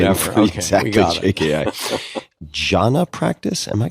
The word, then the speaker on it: jhana: Jhana practice? Am I pronouncing that correctly?